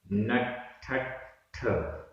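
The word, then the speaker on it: णट्ठ: नठठ आधा ठ दो बार है। नठठ नठठ।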